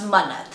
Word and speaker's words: Munnat: Her first name, so it's spelled Munnat, and it's technically pronounced Munnat.